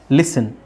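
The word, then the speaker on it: listen: ಇಲ್ಲಿ T silent ಆಗುತ್ತೆ ಲಿಸನ್ ಫಾಸನ್ ಇಲ್ಲಿ ಟಿ ಸೈಲೆಂಟ್ ಆಗುತ್ತೆ ಓಕೆ ಲಿಸನ್ ಫಾಸನ್ ಲಿಸನ್ ಲಿಸನ್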